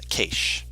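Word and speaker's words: Kaash: For this one, it's Keish, which is Tashina's god. Oh. Keish, god of knowledge, understanding, and the unknown.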